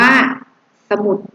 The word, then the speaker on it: สมุด: อัน ว่า อะไร คะ สมุด อ่าน ว่า สมุด เนี่ย คะ อ่าน สอเสือ คือ ตัว นำ ออก เสียง อะ กึ่ง เสียง